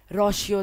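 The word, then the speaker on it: Rousseau: रोशियो दोस्तों, रोशियो प्रोनाउंसिएशन है इसकी।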